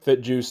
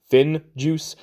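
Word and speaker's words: FinJuice: Which I recently learned it's pronounced Fin Juice. No, I'm not going to do that. It's going to be Fit Juice, and I will fight till my death about that. It is Fit Juice.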